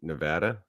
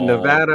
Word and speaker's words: Nevada: And you're going to Reno, you go just straight through Nevada? It's just through the desert, right? Just all government land. Is it Nevada or Nevada? What's the correct way to say it? Nevada.